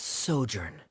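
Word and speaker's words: sojourn: Uh, director Zosimos, how do you pronounce this word? Let me see. Ah, that's Sojurnn.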